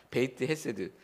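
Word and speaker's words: בית חסד: 그래서 빨리 읽어서 어 베데스다라고 발음을 합니다. 베이트 헤세드.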